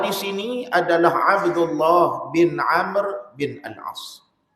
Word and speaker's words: Amr: bin Amr Bin al-as orang Melayu dia baca Abdullah bin Amru bolehlah Dia sepatutnya wau tu tak dibunyikan sebab dia nak bagi beza ejaan Umar dengan dengan Amr sebab ejaan dia sama maka wau tu tak dibaca sebab tu saya tengok